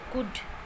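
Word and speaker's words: could: आता है या एल के बाद जब डी होता है तो वो एल साइलेंट होता है वहाँ पर। For example कुड, शुड, वुड। तो यहाँ पर एल के बाद डी है और ये एल साइलेंट है, ये अब ये प्रोनाउंस नहीं किया जाएगा।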